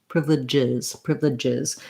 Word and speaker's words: privileges: Privileges. It does add a syllable for that last sound, so there is a little bit of a vowel sound there.